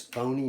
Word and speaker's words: phony: And over here, this Y is saying the name of an E, a long E.